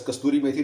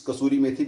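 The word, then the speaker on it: kasuri methi: call as kasuri Mii and lot of people pronounce it as casturi miti no it's not casturi miti it's casturi meti because traditionally it comes from City or province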